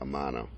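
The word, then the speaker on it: Amanat: We eventually started negotiations with a funding group headed by Mr. Omar Amana, O-M-A-R-A-M-A-N-A-T, pronounced Amana.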